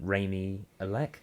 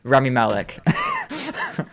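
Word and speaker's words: Rami Malek: like you've got um what was his name raymie elec is that his name i think that i literally just had to read what the villain you're gonna kick yourself when i explain to pronounce remy malek yeah but yeah please don't hate me i'm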